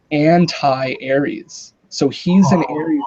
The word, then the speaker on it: Antares: And anyway, so he has a Sagittarius moon, but it's the Antares moon, which Oh, phonetically is anti-Aries.